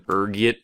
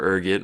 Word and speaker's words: ergot: There's a few different ways you can pronounce it depending on your social standing, ranging from ergit to elgo. Being the disheveled pauper I am, I prefer ergot. Rolls off the tongue, you know.